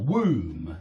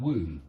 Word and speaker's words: womb: don't pronounce the b or womb yeah something like that womb where the baby um